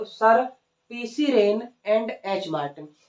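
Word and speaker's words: Wren: तो English grammar के जो जनक है वो सर PC rain and H Martin. ये पीसी रेन लिखा हुआ है, डब्ल्यू इसमें साइलेंट है, PC rain and H Martin.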